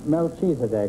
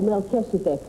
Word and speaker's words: Melchizedek: HG Morton and Anna Melchizedek. Is that how you pronounce it? No, Melchizedek.